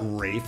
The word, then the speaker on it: Ralph: No, it's Sade, but it's also Ralph Fiennes. It's like screw you. It's not Rafe. It's like me saying my name is Tom. It's pronounced Stephen.